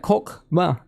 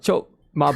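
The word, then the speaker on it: Chokhmah: It's not Chokma, it's Kokma. It's like Kokma. You listen carefully, right? Kokma. That's how you pronounce it, right? So it's like Kokma. So it's not Chokma balls, right?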